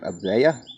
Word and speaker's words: Avaya: Avaya.